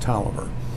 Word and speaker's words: Taliaferro: When these originally were built, they were built and they were referred to as Tolliver 1, 2, and 3. And it's spelled Taliaferro, but it's pronounced Tolliver.